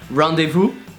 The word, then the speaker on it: rendezvous: if you don't know how to pronounce this magnificent sound nothing easier than that just take a pen and shove it in your mouth not like that like that rendezvous Ohio and you have it okay number two because